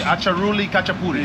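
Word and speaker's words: აჭარული ხაჭაპური: Acharuli Khachapuri.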